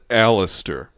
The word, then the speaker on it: Aleister: know it's pronounced alistair aleister crowley but ozzy says crowley so it we're just gonna say either or yeah i mean i'll